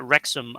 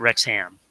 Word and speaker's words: Wrexham: or wrexham oh okay they pronounced it wrexham on the on the trailer so oh okay yeah so i went with that not rex ham yeah but if there's